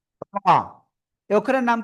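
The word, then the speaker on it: ر: র। এই অক্ষরের নাম কি? র। জিহ্বার আগার পিঠ তার বরাবর উপরে তালুর সাথে একবার বা দুইবার এরকম লেগে উচ্চারণ করতে হবে। র র, মোটা আওয়াজে একালিপ টেনে উচ্চারণ করব।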